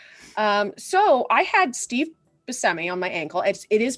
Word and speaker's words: Buscemi: the actor was like it's b-u-s-c-e-m-i there's no h um and tom hanks was also like that um but yeah so so all y'all pronounce busami buscemi and you should feel bad but yeah i had